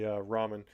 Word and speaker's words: ramen: no I get it I know most people say Ramen but to me that's not how it's spelled so and I'm speaking I'm speaking English and worse than that I'm speaking redneck English so I'm going to go with Raymond raymen Noodles is what it will always